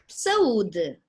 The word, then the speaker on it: saúde: Or saúde, health. Saúde. Okay, so this would be considered a hiatus.